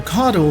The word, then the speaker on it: caudal: The ship's impulse engines are located on the caudal section of the ship, and yes, that's how you say it, caudal.